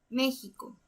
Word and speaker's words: México: De igual manera, la fuerza recae en la antepenúltima sílaba, entonces es una palabra esdrújula. Y todas las palabras esdrújulas se acentúan. Entonces vamos a acentuar la vocal E. México.